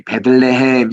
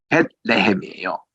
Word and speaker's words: 베들레헴: 우리 지난번에도 우리 베들레헴 공부할 때도 보면은 우리 베들레헴 이렇게 우리가 그냥 영어식으로 읽으니까 이게 어감이 좋지 않습니다만은 유대인들은 벳레헴이에요.